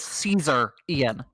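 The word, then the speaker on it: caesarean: because of another thing it's it's it's pronounced differently but if you read it it is Caesar Ian of Caesar it's so wild I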